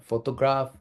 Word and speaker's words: photograph: photograph on photographers yeah photograph the first part the emphasis on the first syllable and the photographers is